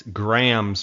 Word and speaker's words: Graham's: Joseph I'm sorry because I was pronouncing it wrong it's Grahams plural GRA H AMS guide services com yep